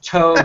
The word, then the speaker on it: TOBH: It's Tobe rhymes with robe.